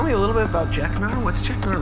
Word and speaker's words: Jeknar: Jeknar, is that right?